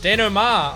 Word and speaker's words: denouement: Denouement. Oh, I've always been calling it started with a request denouncement, from but the she calls it Resistance. denouement, which I guess is probably how you actually pronounce it.